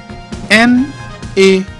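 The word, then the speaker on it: naté: N-A-T-E, pronounced as A.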